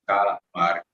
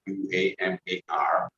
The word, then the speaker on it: Qamar: My name is Kamar. It is pronounced as Kamar, Qamar.